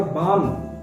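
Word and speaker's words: balm: बाम, breathing माने सुगंधित, और बाम इसमें एल साइलेंट है, बाम पढ़ा जाएगा, बाम माने होता है मलहम, और वो स्वयं में एक सुगंधित मलहम की तरह होगी।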